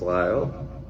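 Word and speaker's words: Lisle: about LIF SL e it's pronounced Lyle and it's the town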